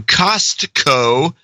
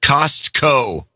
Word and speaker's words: Costco: I realized I've been dropping the T from Costco for years. I quickly corrected her and now pronounce it Costco.